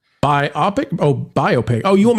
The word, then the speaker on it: biopic: Detail Devil for $1.99, pronounced biopic. Biopic?